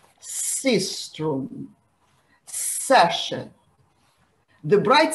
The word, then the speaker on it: sistrum: Out of six instruments, three are clappers, the timbrel or the hand drum, and sistrum are noisemakers.